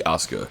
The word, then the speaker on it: Asuka: from this Yakuza lady Asuka, or Asuka as they pronounce it, as we escape to the second island, Staunton.